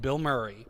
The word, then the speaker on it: Bilmuri: all the time is a band called Bill Murray. It sounds weird. And Bill Murray. So it's like the celebrity's name, Bill Murray, but it's one name, it's one word, and it's spelled like a medicine, Bilmuri.